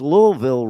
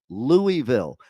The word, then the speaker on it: Louisville: got the people here in Kentucky who don't even know how to pronounce Louisville right. They pronounce it Louisville. It's Louisville.